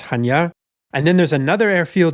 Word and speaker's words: Chania: a town called Chania, which I think is sometimes pronounced Kania or Kanea in English, but I think it's Chania.